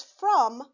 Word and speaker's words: from: not follow the rules it looks like the o should say ah like we know but it's not it is pronounced uh like the u sound uh this is the